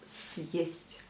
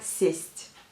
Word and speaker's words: съесть: Donc, съесть, pour que la lettre S soit bien dure, et ben, il faut mettre le signe dur après cette lettre, donc qui devient съесть.